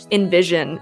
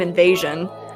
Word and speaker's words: Invision: His name's Invision, and I was calling him Invasion all stream until I realized and someone pointed it out.